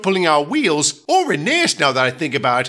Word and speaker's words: Rheneas: Good point, Rheneas. Rhen what? That's how my name is actually pronounced, Rheneas.